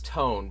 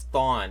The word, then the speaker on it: Thon: I'm glad that you said Bryce Tone, because I always thought it was Thon, and now I know how to pronounce that.